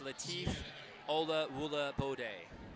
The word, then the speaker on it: Latif Olawulabode: Liam, I thought you were going to ask me to pronounce his last name again, so it's Latif Olawulabode. That's quite a handful there. Polysyllabic, probably 5 syllables on that one.